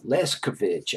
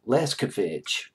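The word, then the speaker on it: Leskanich: Katrina Leskovich. I think I'm trying to convince myself more than I'm trying to convince you that I can pronounce her last name.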